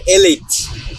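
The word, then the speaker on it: Elite: এটা হচ্ছে এলিট বা অ্যালাইট, যে যেটাই বলুক। আমাদের একটা ইংলিশ স্যার আছে, উনি এলিটকে অ্যালাইট বলে। হ্যাঁ, তো তবে এটার উচ্চারণটা হচ্ছে এলিট।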